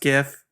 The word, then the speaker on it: GIF: When I went to do something witty, somebody said something in a group chat, and I went to post a GIF in that group chat.